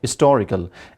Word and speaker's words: historical: is not important and the stress goes to, like in its historical second part, that is to, historical.